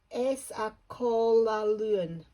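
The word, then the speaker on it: Eas a' Chual Aluinn: my gosh it's lovely oh here we go it's a cola learn that's what it's called that's the that's um how you would pronounce it it's fairly new to Inverness okay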